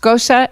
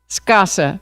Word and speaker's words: Scasa: I hear your name pronounced Scosa and Scasa. Could you help me out? Scasa. Very good. Commissioner Gardner had it right, so that's good.